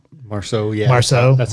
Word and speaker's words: Marceau: Marceau, yeah.